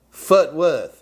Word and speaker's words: Fort Worth: w is watching from you gotta say it like this foot footwork footwork really people from fort worth say that yeah they do all right x w back me up here max it's footwork fort worth right oh yes but